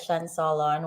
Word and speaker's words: Cien Solon: You did pronounce it correct. That is Cien Solon.